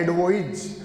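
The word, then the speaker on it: advise: उसका प्रोनाउंसिएशन होता है एडवाइज। जबकि जो सी वाला होता है उसका प्रोनाउंसिएशन होता है एडवाइस, राय, सजेशन, सुझाव।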